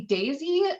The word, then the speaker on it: Deise: she likes to say daisy pronounced like the flower um so we've got